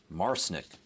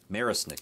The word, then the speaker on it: Marisnick: so who's behind torque another pirate it's Jake marsnick marisnick excuse me Jake marisnik marisnik marisnick my pronunciation skills need to improve at two in